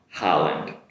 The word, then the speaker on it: Holland: Make the “ha” sound, “Holland”.